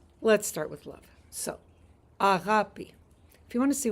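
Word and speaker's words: αγάπη: but I thought the word for love was agapi.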